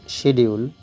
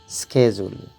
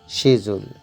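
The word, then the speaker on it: schedule: নিশ্চয়ই শিডিউল, কিন্তু সঠিক উচ্চারণ হচ্ছে স্কেজুল, স্কেজুল, American pronunciation. শিজুল, শিজুল, British pronunciation.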